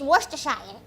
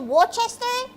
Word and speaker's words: Worcestershire: Or she's pronouncing it right? Like, it is Worcestershire. But like, some gals will probably call it Worcester, or like whatever the hell you gals call it.